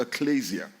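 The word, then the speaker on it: ἐκκλησία: It comes from a Greek word that is pronounced ecclesia.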